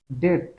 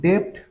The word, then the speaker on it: debt: 2 নম্বর বিষয়টা হচ্ছে cost of ডেট। এটা কিন্তু ডেপ্ট না, আমরা অনেকে ভুল করে বলি DEBT, মানে ডেপ্ট। কি বলি? ডেপ্ট বলি, ডয়েকের বট, ডেপ্ট বলি। আসলে এটা ডেপ্ট না, এটার উচ্চারণ হচ্ছে ডেট।